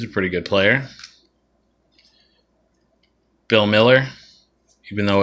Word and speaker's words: Mueller: jermaine dye he's a pretty good player bill miller even though it's spelled mueller bill miller jose cruz jr i